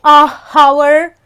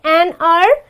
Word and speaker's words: hour: So why do we say an R? Because this again is silent and this is my first word, that is O, which is again a vowel. That is why I am going to say an hour.